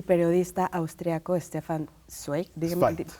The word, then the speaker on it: Zweig: libro de un poeta y periodista austriaco, Stefan Zweig. Zweig. Zweig, gracias. Claro, es alemán, una No, pronunciación medio rara.